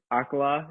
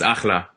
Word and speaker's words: Akhla: Obviously you got your single Friday, Akhala. Is that how do you say it? Yeah, it's Akhla.